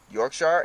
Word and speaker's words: Yorkshire: top 10 and from Yorkshire England from Tacoma WA but I know you're American stop saying it York Shire to say Yorkshire like the way you